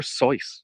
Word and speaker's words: Seuss: my great heroes and dr. Seuss or dr. Seuss was actually how he pronounced Theodor Seuss Geisel doctors this as many